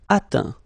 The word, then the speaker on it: atteint: Atteindre, atteint. Éteindre, éteint. Feindre, feint. Peindre, peint. Teindre, teint. Okay, as usual, final T not pronounced. Atteint, éteint, feint, peint, teint.